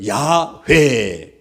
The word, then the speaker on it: 야훼: UIHWH는 자음에다가 아도나이의 모음을 섞어가지고 발음을 하는데 그것을 야훼 이렇게 발음합니다.